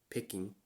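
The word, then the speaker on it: 北京: So the capital of China, the way you pronounce it in Japanese is Peking.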